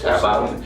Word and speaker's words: Carabao: Carabao? How do you pronounce it?